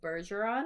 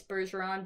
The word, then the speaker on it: Bergeron: But it said like Eric Bebo Bergeron. Whatever. I'm saying Bergeron like... He goes by Bebo, though. Like Patrice Bergeron because the last name is spelled Bergeron.